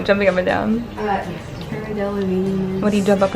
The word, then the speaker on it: Delevingne: Delavine. Delavine? What rhymes with Delavine? Queen? No, jumping up and down. Cara Delevingne.